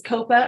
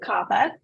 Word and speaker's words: COPPA: and then lastly papa there's some debate about whether this is Copa or Coppa and we looked at all the different YouTube videos and guess what people pronounce it differently so you might hear us going back and forth we decided on Kappa um so copper States